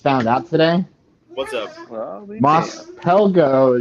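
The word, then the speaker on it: Mos Pelgo: out today what's up moss pelgo is salt you know p-e-l-g-o there's no silent s at the end of it and i was looking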